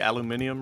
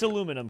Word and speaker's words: aluminum: for me or the aluminium or whatever by the way oh it's aluminum cap don't say it like British people but it has an eye at the end is there not an